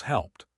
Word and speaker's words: helped: Help plus ED equals helped. P is unvoiced.